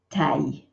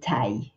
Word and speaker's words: taille: taille than just say taille. It's just one syllable. There's a big tendency to say taille with an extra E. We only say it in one short syllable, taille.